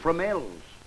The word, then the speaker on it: Fromelles: Tell me, Burton, how do you pronounce the name of that place you were billeted in? Oh, Fromelles. Fromel.